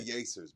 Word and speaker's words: Yers: It looks better on a t-shirt than I like yers better. Yers because it rhymes with pacers.